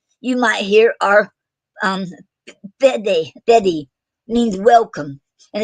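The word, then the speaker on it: fáilte: Some other Gaelic terms you might hear are um, Fede means welcome, and it's spelled FAILTE.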